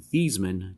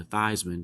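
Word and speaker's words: Theismann: Joe at the time thevan changed his pronunciation to thyman to rhyme with Heisman so three games into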